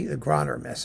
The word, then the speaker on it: Graner Messe: the Liszt Missa solemnis, the Graner Messe, which I Graner Messe, if you want to pronounce it a little better.